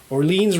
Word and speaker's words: Orléans: up all the ah orleans rhymes with jolene right okay on the